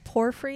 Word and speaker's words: Porphyry: And it's Porphyry. Is that how you're pronouncing Yep, it?